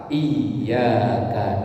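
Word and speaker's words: إِيَّاكَ: wa i nya itu harus jelas tasdidnya harus jelas ditekan bacanya iyaka naudu wa ditek karena kalau dibaca lurus tanpa tasdid artinya ya sama tadi bertentangan berlawanan hanya beda tasdid yang iaka hanya kepada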